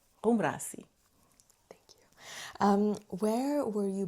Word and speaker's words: Ghoumrassi: My name is Ghoumrassi. And how do you spell that? Yeah. So, and then. That's a Portuguese name. And then Ghoumrassi, it's a North African name. Ghoumrassi. Ghoumrassi.